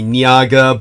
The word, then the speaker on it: Naga: kind of a uh Naga Naga is that what they call those big snakes yeah yeah the correct pronunciation would be niaga but the romanization the English say Naga come on yeah and